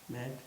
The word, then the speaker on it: mate: मैट। अब मैंने MATE बोला, वो क्या बना? उसको तो आप ही बताएंगे। MATE जनरली हम प्रोनाउंस करते हैं मेट, ठीक है।